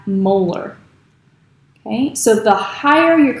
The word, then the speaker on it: molar: So while molarity is one measure of concentration, its units are a capital M, and we pronounce that molar.